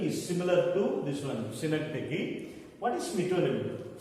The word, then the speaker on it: synecdoche: It is pronounced, don't pronounce it as synecdoche, it is pronounced as synecdoche.